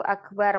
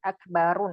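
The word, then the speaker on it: أكبر: Kalau sifatnya itu akbar menunjukkan lebih, makna lebih. Akbar, ahsan, asgor, afdol. Nah, itu tidak boleh dibaca asgorun, akbarun, ahsanun. Tapi dibacanya tanpa tanwin.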